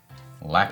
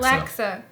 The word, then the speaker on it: laksa: Laksa. Laksa.